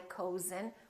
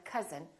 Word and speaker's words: cousin: We don't say my cousin, we say my cousin, or country.